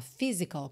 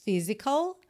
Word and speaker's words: physical: c a l mas a pronúncia ó Physical como se fosse f mesmo tá Physical only Logical You must